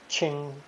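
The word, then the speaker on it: 情: radical paired with the ching phonetic pronounced second tone ching ching since it does have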